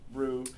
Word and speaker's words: roux: It's pronounced roux.